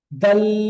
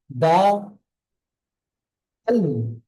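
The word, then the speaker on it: دال: পড়াটা হবে প্রথম দিকে টান হয়ে শেষে ল উচ্চারণ হবে, মুখ খালি রেখে দা, আল, দা, আল।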